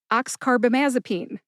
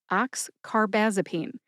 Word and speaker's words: oxcarbazepine: are but someone told them to take their oxcarbamazipene.